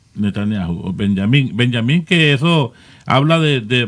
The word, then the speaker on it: Netanyahu: ¿Cómo es que se pronuncia? Porque yo decía Netanyahu, pero ustedes lo dicen de otra forma más correcta. Benjamín Netanyahu.